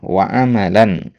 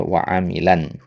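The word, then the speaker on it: وَعَمَلًا: Tadi antum baca waamilan ya. Kalau antum baca amila enggak boleh ada tanwin karena fi'il jatinya amila yaalu man amila min amalin gitu kan. Ya, amila. Kalau untuk baca amila enggak boleh tanwin karena tanwin itu isim kan. Tanwin itu tanda isim.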